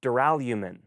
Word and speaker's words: duralumin: researching for this video I discovered I'd been pronouncing wrong for years duralumin it sounds so much cooler with gold and